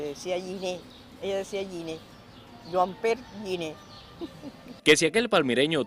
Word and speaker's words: Juan Pérez: Es Juan Pérez con N y al final no tiene Z. Y se pronuncia Joan Pérez.